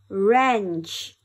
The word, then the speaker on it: wrench: do it again and this time we will spell it out as well er wrench w-r-e-n-c-h wrench er wrench er rap w-r-a-p rap